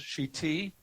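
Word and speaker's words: שִׁתִי: I just want to go back to the second sentence for a second, that the word is shiti, with the stress is on the last syllable.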